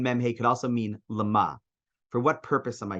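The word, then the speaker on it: למה: Anybody know how to pronounce that? Lama.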